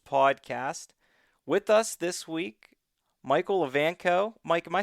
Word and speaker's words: Michael Evanko: With us this week, Micheal Evanko. Mike, am I saying that right? Yes, you actually did a great job of pronouncing that.